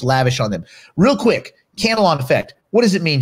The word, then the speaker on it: Cantillon: Jerry, how do you pronounce? Do you say Cantillon? Cantillon.